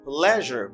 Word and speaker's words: pleasure: what gives problem to people pleasure it is pronounced as pleasure musa pleasure it's a pleasure it's plus the